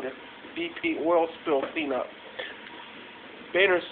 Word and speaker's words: Boehner: His name is John Boner. Actually, it's pronounced Boehner, but if you were to type it into